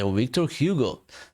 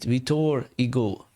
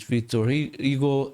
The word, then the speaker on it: Victor Hugo: would say Victor Hugo no that's not how you uh I think you say it vtor ego or something like that um in France because he's a French author so So you pronounce it how the French men's do, not in English accent.